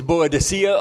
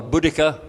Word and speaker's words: Boudica: Well, it depends. It's Boadicea or Boudica.